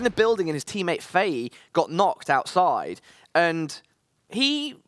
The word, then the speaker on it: Fei: So earlier on, we had a team, Wingman squad with Takuo and another player called Fei. Yes, that's the correct pronunciation.